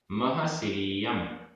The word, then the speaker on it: महसिरियम: महसिरियम, महसिरियम, सारा और या तीनों में छोटी की मात्रा है। महसिरियम।